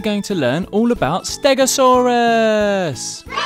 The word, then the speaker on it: Stegosaurus: Today we're going to learn all about Stegosaurus!